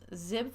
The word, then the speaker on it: XIB: Now you may hear this or see this explained different ways, but XIB can be pronounced as zib files or nib files.